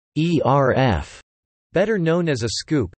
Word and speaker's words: ERF: In stage lighting, an ellipsoidal reflector floodlight, sometimes known by the acronym ERF, which is often pronounced ERF, better known as a scoop, is a large, simple lighting fixture with a dome-like reflector, large high-wattage lamp and no lens.